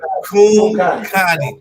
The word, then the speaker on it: Kumkani: Kumatai, palm hair, Negro, Kumkani. They say Kum like boom with the K. Okay. Kumkani, and like a girl named Connie.